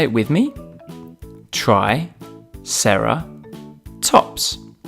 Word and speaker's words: triceratops: us today triceratops try sarah tops can you say it with me try sarah tops let's learn all about triceratops